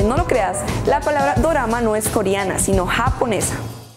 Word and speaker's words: dorama: lo creas la palabra dorama no és coreana sino japonesa la palabra dorama viene la pronunciación del estilo japonés de la palabra inglesa drama el término correcto para